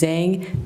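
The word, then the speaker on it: Zheng: That's spelled. Last name is Zang.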